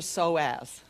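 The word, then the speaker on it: psoas: How many people have heard of the soaz, the P is silent?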